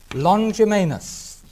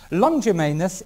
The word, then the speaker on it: Longimanus: The third one was given by a man called Artaxerxes Longimanus. I better spell that, I think. A-R-T-A-X-E-R-X-E-S, Artaxerxes Longimanus, L-O-N-G, I-M-A-N-U-S.